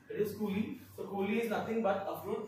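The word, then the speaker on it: coulis: that is your fruit remember s is silent it's not pullies it is cooling is nothing but a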